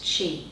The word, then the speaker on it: Qi: that they would use key for energy as opposed to Chi the Chinese way so again they blend